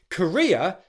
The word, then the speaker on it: career: is on re, and for Courier, as in career growth, the stress is on that second syllable, which is the R sound and the ear diphthong. Ria, ria, ria.